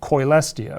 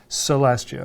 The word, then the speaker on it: Coelestia: Arcana Coelestia, or some people pronounce it Celestia, like Arcana me. Celestia. I pronounce Celestia.